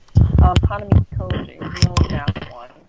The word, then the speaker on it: Hanamikoji: Hanami Koji is the only math one.